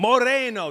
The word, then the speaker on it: moreno: Moreno, that's how you say it. Moreno. You gotta roll the R.